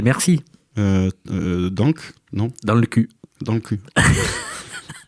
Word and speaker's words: cul: Dans le cul. Dans le cui. Dans le cul. Enfin, on ne prononce pas le L, mais comme vous voyez le niveau de cette émission quand même.